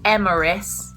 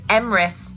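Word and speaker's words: Emrys: m r y s it has two syllables MRIs doesn't have three syllables it is not emeris it is not emis it's emis and yeah you couldn't make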